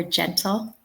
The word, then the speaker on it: gentle: I see the letter G, but listen to the sound."